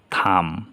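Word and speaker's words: thumb: এইখানে আছে এর পরে বি, তাহলে বি উচ্চারণ হবে না, বি এর পরে বাওয়েল নেই, তাহলে কি হবে? থাম, হাতের বুড়ো আঙ্গুল।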